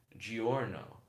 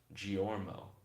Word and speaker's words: Giorno: Then Kel said, also his name is pronounced Giorno, not Giormo.